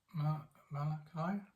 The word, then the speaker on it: Malachi: Malachi? Malachi, thank you. And I know more the Hebrew name now for that, and I forgot the English one. So this is what he said in Malachi chapter 3.